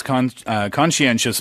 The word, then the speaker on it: conscientious: It's spelled Conscientious, and it's a pretty difficult word to pronounce. Conscientious. Yes, conscientious, Yeah. right? It's the sh sounds that that throw you off.